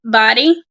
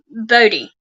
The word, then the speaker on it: Bodie: um body or body it can be pronounced anyway because it's b-o-d-i-e it has been pronounced as body and currently some will call it Bodhi but separated from the